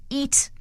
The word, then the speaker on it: Eet: somewhat new ways now the service is called eat meal planning and the eat is spelled e-e-t uh it's great pleasure